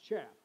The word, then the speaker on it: chaff: i'm saying it right chap's not chafed because you know what chaff is we don't want that it's chaff so chaff is the extra